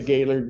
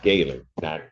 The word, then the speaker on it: Gaylord: It's like has never been to Gaylord, Michigan because it's pronounced Gaylord, not it's not two separate words.